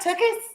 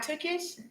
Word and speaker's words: Tookus: Tookus. Am I saying it right? Tookus? That's what it is. Tookus. I thought I was saying it right. Tookish? It was Tookus. So I put an SH on it instead of US. Yeah. It's Tookus.